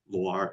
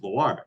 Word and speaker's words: Loire: And then the main river that runs through Loire is Loire, Loire.